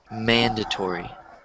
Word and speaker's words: mandatory: So the stress is in the first syllable, and it's mandatory.